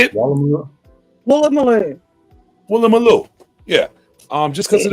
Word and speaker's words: Woolloomooloo: Walu Malu, did I say it right?